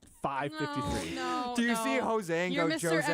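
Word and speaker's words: José: like our rewards program, and his name is Jose, and they go Josie, and I'm like, yeah, let's just roll with it.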